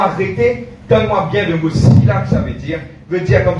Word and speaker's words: Selah: vous trouvez écrit Selah, S-E-L-A-H, qui est prononcé pas Selah, Sila. Ok?